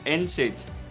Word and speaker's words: NSAIDs: canada number two is nsaids and this is commonly pronounced as nsaids like ibuprofen or aspirin